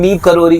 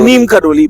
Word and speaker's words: नीम करोरी: बुलाना शुरू कर दिया उसी नीम करोरी को बहुत लोग नीम कर नीम करोली बोलते हैं और उस तरीके की चीज है तो उसका जो वास्तविक उच्चारण है नीप करोरी फरुखाबाद यूपी उत्तर प्रदेश